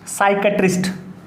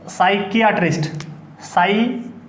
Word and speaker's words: psychiatrist: हालांकि स्पेलिंग याद आप इस तरीके से कर सकते हो, साइकियाट्रिस्ट, किया मतलब IA, इससे बना साइकिया, लेकिन बोलने में ऐसा नहीं कर सकते, आप बोलना है अपने साइकेट्रिस्ट, ठीक है।